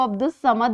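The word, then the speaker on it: عبد الصمد: आवाज़ नहीं आती, इसको अब्दुस समद बोला जाता है। इसी तरह एक लफ्ज़ है शम्सुज़्ज़मा। इसमें भी अलिफ और लाम की आवाज़ साइलेंट है और इसको शम्सुज़्ज़मा बोला जाता है।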